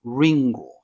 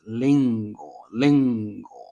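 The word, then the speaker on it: りんご: Like R is somewhere between English R and L. So here is the example of apple, um, lingo. So this is not ringo, it's lingo.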